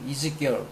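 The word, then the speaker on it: Ezekiel: 나에서 에스겔이라는 사람 이름인 것 사람 에스겔 영어 발음이 에스겔이라고 하지 않고 이즈 girl이 is결 girl이 is즈 girl 그래서이지이지 많이 써먹죠이지 이지 빵 이름이에도 이지가 붙는데 성서에 나온 내용입니다.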